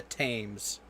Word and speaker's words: Thames: It is spelled the same way, but locally it is pronounced the Thames.